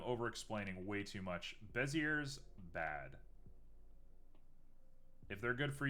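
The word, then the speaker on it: Bézier: is all right uh bezier is french and pronounced bessie bessie uh okay are you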